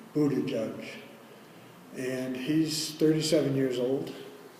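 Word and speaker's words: Buttigieg: gentleman that I mentioned his last name is a really tough one it's they heard different ways of pronouncing it but the latest is bootie judge and he's 37 years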